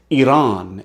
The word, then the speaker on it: Iran: It's Iran, it's Iraq. You don't have to say it that way, but it's E, not I.